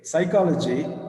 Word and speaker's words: psychology: So, first letter, knowledge, K silent, psychology, first letter P is silent.